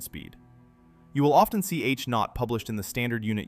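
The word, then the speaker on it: H₀: The key quantity is the Hubble constant, pronounced H-naught.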